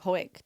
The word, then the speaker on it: Hawick: So, Henry, the point I'm making Just wanted to say Hawick, didn't you?